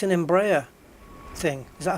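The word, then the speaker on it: Embraer: Oh, it's an Embraa thing. Is that how you pronounce it? Yeah, it's an Embraa E190 then.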